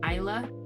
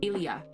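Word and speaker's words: Ilya: Um, Isla or no, Ilia. I L Y A.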